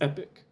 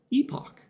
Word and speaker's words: epoch: So this first one here, the primary pronunciation is epic. But they do also have an alternate, US pronunciation and British usually. And this one is epoch. I see. Interesting. So I guess I use the dictionary pronunciation, but common pronunciation in the US and the UK is epoch.